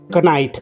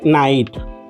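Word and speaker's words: knight: याला तुम्ही रॉंग तुम्ही वाचताय ख नाईट ख नाईट वाचताय तर तो शब्द आहे नाईट काय शब्द आहे नाईट मग या शब्दाला मी नाईट वाचलं पण मी कचा म्हणजे के चाचा उच्चार केला का नाही मग हा के त्या शब्दातला कोणता लेटर आला सायलेंट लेटर आला म्हणजे के इथं या शब्दामध्ये के हा सायलेंट लेटर आहे लक्षात ठेवा आपण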